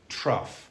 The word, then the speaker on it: trough: going to see this trough here that's going to now I did I did not give you this word. Okay so the pronunciation of that word is trough like cough.